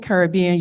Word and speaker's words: Caribbean: is it okay so if you're saying Caribbean you stop short and just say caribbe caribbe okay to be or